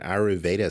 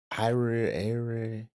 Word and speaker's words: Ayurveda: and Ayurveda Center. Mhm. Did I say it right? Ayurveda.